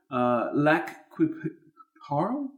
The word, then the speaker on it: Lac qui Parle: The town is known as I'm going to get the French pronunciation incorrect in here. I know Lac Quiparle, Lac Quiparle. Lac Quiparle. Sure. Lac Quiparle. But of course, we've Americanized it because it's in America.